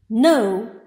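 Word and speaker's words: know: have k is silent we don't pronounce it as canal we pronounce it as no the pronunciation of k-n-o-w is no k is silent in the beginning initial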